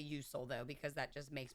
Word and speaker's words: Usul: So now we have the Usul, I believe is how it's pronounced. I will probably say Usul though, because that just makes more sense in my brain.